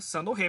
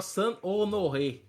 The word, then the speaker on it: Saint-Honoré: Saint-Honoré. Olha aí, tá Uhum. vendo? Saint-Honoré, parece Olha passo de ela.